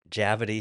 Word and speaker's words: Javadi: It's like rhyming with gravity. Yeah, Javadi, gravity, Yeah.